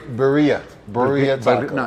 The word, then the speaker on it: birria: He said, man, you should have got that birria taco. And I said, wait a minute, what say it again? Birria. And I said, oh Lord, we done mispronounced Iberia.